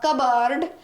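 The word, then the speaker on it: cupboard: पे आर है लेकिन पी तो दोनों ब्रिटिश और अमेरिका दोनों में ही गायब है 20 साइलेंट है कब बर्ड कब बर्ड कब्बा कबर्ड है अमेरिकन इंग्लिश में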